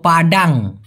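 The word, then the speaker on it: padang: পাডাম মানে মুছে ফেলা। পাডাম মানে ডিলেট করা বা মুছে ফেলা। একই রকম শুনতে পাডান। পাডান। এই পাডান মানে হচ্ছে প্রপার অথবা ফিট। পাডান। একদম ফিট ফাট। আরেকটা হলো পাডাং।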